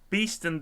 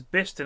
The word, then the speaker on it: Beeston: I moved out of Beeston this week and I've never heard of the banana thing. It's pronounced Beeston. Hearing Beeston pronounces Biston is the worst part of my day.